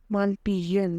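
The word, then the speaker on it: Malpighian: इसकी pronunciation मालपीजियन है।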